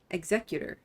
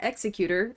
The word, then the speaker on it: Executor: I just learned how to say this word. Exeutor. Exeutor. Pollen. Not executor apparently, cuz that would be pretty intense.